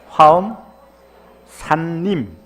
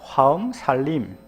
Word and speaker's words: 화엄산림: 화엄, 발음을 똑띠 단디 하십시오. 화엄 산림, 빨리 하면 화엄 살림, 갱상도 발음으로 하면 화엄 살림, 맞습니까?